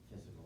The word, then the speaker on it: physical: and then Starts with a P. the Pronounced like a F. physical limits.